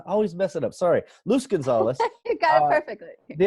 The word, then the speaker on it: Luz Gonzalez: No, Luz Gonzalez. See, my pronunciation, I always mess it up. Sorry. Luz Gonzalez.